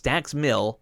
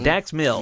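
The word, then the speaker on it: Dax Milne: said it wrong it's dax mill but he has an any on the end of the end uh of his name and you don't pronounce that he hasn't so dax mill and he has a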